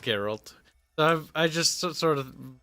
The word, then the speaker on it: Geralt: I mean, his name is Geralt, because I'm pretty sure it's pronounced Geralt.